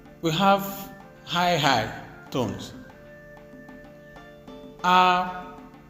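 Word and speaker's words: àkwá: Aqua.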